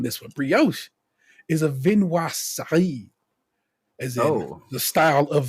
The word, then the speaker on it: viennoiserie: I want y'all to hear Hold on. I'm gonna say it, and then I want y'all to hear how it's actually said. I kind of wrote it out phonetically for myself. Viennoiserie. Viennoiserie, French. Viennoiserie.